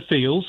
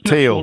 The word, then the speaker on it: Thiel: Teal, apparently. I mispronounced that. I've been corrected. I'm sure I got corrected when I said Teal to Thiel, and now I've said Thiel and everyone's saying Teal.